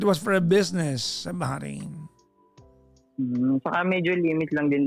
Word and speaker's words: Bahrain: B-A-H-R-A-I-N. Yes po. Yung H talaga yung ano dyan yung kailangan mong i-pronounce yung Bahrain.